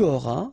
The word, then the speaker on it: auras: J'aurai, tu auras, final S not pronounced, il aura, elle aura,